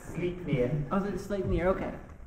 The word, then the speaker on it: Sleipnir: it's pronounced Sleipnir.